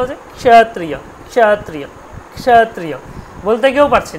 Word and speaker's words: ক্ষত্রিয়: দেখুন ক্ষত্রিয় যখন উচ্চারণ করছেন, ক্ষত্রিয় কটাকে প্রথমে হালকা উচ্চারণ করছেন, ক্ষত্রিয় ক্ষত্রিয় ক্ষত্রিয়, কটাকে আপনি বলতেও পারছেন না। বলতে পারছেন? বলুন তো একবারও, কটা আসছে বলতে পারছেন? পারছেন? হ্যাঁ, একদম সামান্য, একদম সামান্যতম আসছে, তাহলে উচ্চারণ হচ্ছে ক্ষত্রিয়